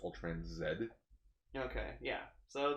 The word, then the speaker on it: Ultraman Z: Okay, so according to my sister, it will be pronounced Ultraman Z. Okay, yeah. So, the Canadian version way of saying letter Z. Because at first I was like, oh, Ultraman Zeta.